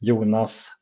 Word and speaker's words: Jonas: the language here yeah so in Swedish I'm Swedish uh my name is yunas or in the American